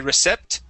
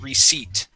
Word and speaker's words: receipt: be receipt now class this p is silent all right so if you go in there and you think they are going to say recept to you uh that would be incorrect the word is receipt okay how about these